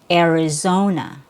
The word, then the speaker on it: Arizona: It's uh more of a regional accent, but the standard most people neutral pronunciation will be with a short e sound plus r e air.